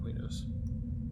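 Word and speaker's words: Qeynos: know some people that's another one that people don't like the pronunciation of i call it queenos what can i say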